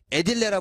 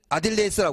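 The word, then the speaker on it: aediles: 조영관이라고 하기도 하고, 뭐, 관리관이라고 하기도 하고, 에딜레라 부르기도 하고, 아딜레이스라고 부르고, 에딜레는 영어식 발음. 아딜레이스는, 라틴어 발음. 편한 거 하시면 돼요.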